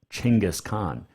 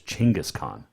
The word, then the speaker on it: Genghis Khan: We know him better as Genghis Khan. And yes, it is pronounced Chinggis, not Genghis. It is Chinggis Khan.